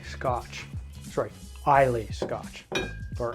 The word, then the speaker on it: Islay: And no Mean Fiddler would be complete without an Islay Scotch. Sorry, Islay Scotch, or Islay, depending on how you want to pronounce it, of course.